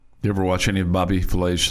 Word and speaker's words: Bobby Flay: Bobby Filet, 60. And Matt Forte is 39. You ever watch any of Bobby Flay's, what'd you say his name was? Bobby? Flay. Bobby Flay. I was going to say Bobby Filet, but Bobby Flay.